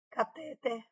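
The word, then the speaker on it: cateter: São oxítonas, móvel, catéter, uréter, mister.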